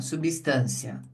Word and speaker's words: substância: Aqui agora na substância, olha a diferença aqui. Eu vou, digamos assim, desenhar para vocês, ó. Substã substância. Olha lá onde o som subiu. Substância é o t que é forte.